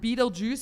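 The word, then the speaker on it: Betelgeuse: I think and that basically is so you pronounce it Beetle Juice but it says constellation of stars like some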